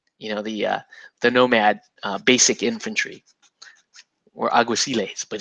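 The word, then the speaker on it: Alguaciles: nomad basic infantry, or Aguiciles, but he would say Aguithiles, like really cool, like Spanish accent.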